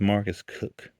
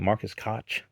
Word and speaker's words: Marcus Koch: we get into anything, the man's name is Marcus Cook, but it's spelled Marcus Koch. Maybe, I felt English that ridiculous type situation here, but it, should his name not be like Marcus Koch?